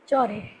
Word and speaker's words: Chaudhary: how do you pronounce it? Chaudhary.